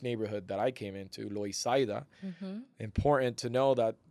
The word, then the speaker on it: Loisaida: that I came into, Loisaida. Important to know that it's called Loisaida because the first Puerto Ricans that were here did not speak English, and that's how they would pronounce Lower East Side.